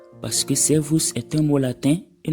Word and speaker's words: servus: Attention, le S ici se prononce S et non Z, malgré qu'il est suivi d'une voyelle, parce que servus est un mot latin et non un mot allemand.